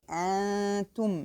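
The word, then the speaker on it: أنتم: So I don't say an, so this is wrong. It should be antum, and the ta carries dhamma, so I have to satisfy the dhamma and say tu, antum.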